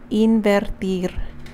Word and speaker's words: invertir: So in Spanish, the word to invest is a fun one because it is invertir. That means you get to roll your R twice, not once, but twice, double bonus R's.